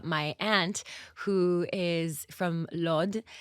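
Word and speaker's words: Lod: aunt who is from Lord um or lud depends how you say it it's a community in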